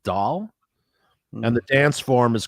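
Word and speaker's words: dhol: you mentioned is called it's spelled d-h-o-l so I'm gonna pronounce it doll and the dance form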